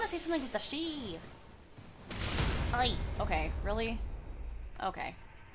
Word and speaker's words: Sidhe: I keep wanting to call him Sidhe, but I think it's an Irish word or something, and so it's not actually said, pronounced how it looks. It's like she or something.